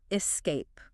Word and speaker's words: escape: really specific way Escape do you ever find yourself adding an extra sound at the beginning Escape oh my gosh you're reading my mind I do that all the time especially when I'm talking about something exciting like escaping to a tropical island it's a really common slip but the correct way to say it is nice and simple Escape imagine yourself just gliding